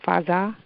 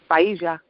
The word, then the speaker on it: Faija: Is it Faza? Faija. Faija. Okay.